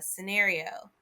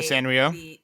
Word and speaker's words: Sanrio: cards of like uh scenario like sanrio sanrio yeah i always call it scenario and that's not at all how it's spelled but whatever um sanrio